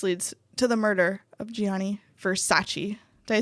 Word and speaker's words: Gianni Versace: right so this leads to the murder of gianni versace did i say it right okay great you